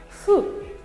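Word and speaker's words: ふ: Los japoneses no pronuncian hu, sino fu.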